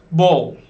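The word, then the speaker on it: bowl: tamam bu devam edelim bol bol dokunuşu biraz farklı buna dikkat edin direkt bol gidemiyorsunuz oradaki ve biraz yutuyor değilse o da bu ve ve daha doğrusu yutuluyor Bir daha söyle saralım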